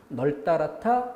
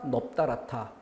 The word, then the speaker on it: 널따랗다: 널따랗다, 넙따랗다. 리을, 비읍 어느 게 소리가 나요? 리을인데 이게 비읍인 것처럼 느껴지면 어쩔 수 없죠.